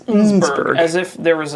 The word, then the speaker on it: Innsbruck: It's not not Innsbruck, Innsbruck, it's Innsbruck.